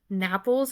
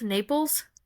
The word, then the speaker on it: Naples: style to it that originated in I always pronounce this wrong napples Naples Naples Naples I've been to Naples yes and